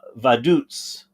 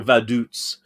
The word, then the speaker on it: Vaduz: what European country okay how is this thing pronounced I thought maybe it'd say on online how you pronounce it let's see okay here it is it's pronounced uh vaiduts I get okay so valutes is how it's pronounced vaduts is the capital